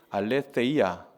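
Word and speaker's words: ἀλήθεια: 진리라는 단어인데 진리가 헬라어로 보면 알레세이아라고 하는 단어입니다. 제가 일부러 한번 가져와 왔어요. 알레세이아. 진리하면 한번 읽어 볼까요? 알레세이야. 시작. 알레. 예. 뻔데기 발음이라서 시옷으로 해야지 디귿으로 해야 될지는 알아서 하시면 됩니다. 알레테이야. 이렇게 근데 여기 보시면 어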